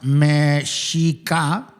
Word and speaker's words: Mexica: This was the time when the Mexica, pronounced Mexica, right?